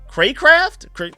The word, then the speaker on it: Craycraft: wide receiver, River Craft, Craycraft. I have absolutely honestly no idea how to pronounce that last name. It's C R A C R A F T Craft.